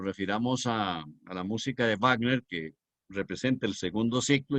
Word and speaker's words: Wagner: les recordaré que digan Wagner, porque la V se pronuncia en alemán labio dental, no como ustedes están acostumbrados a pronunciar en inglés la W que es gutural.